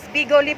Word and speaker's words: Bigoli: Ayan guys, Bigoli po pala yung tamang pronounce doon.